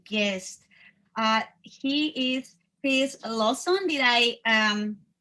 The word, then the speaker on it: Lawson: very very special guest uh he is face lawson did i um pronounce it good your last name he did